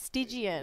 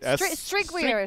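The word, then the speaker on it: Strygwyr: Have you ever tried to pronounce Bloodseeker's name? Now Oh, that's a mouthful. his was Something 2-2. it's not Stygian. You It's know, like, it's like Stwigger. hang on, let me see it. Strigweir.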